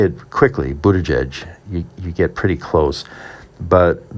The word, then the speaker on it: Buttigieg: So very early on in the campaign, it was boot, edge, edge, and I have a cap that says that.